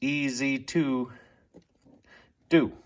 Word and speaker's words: EzzDoo: Actually, when I read the instructions, that you're supposed to pronounce it as two Z's. EZ2 do.